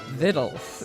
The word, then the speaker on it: victuals: her book is called it looks like victuals but it's pronounced viddles uh in the mountains